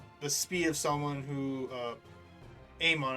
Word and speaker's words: Amon: Like Korra can match the speed of someone who Amon, I believe that's how you correctly pronounce his name.